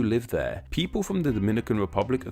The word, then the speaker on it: Dominica: With Dominicans from the Dominican Republic, the me syllable is stressed, while Dominicans from Dominica, the ni syllable is stressed, Dominica and Dominica respectively.